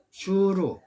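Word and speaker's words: שׁוּר: 술은 슈르, 술로 발음하는데 이 뜻은 벽을 의미하고 있습니다.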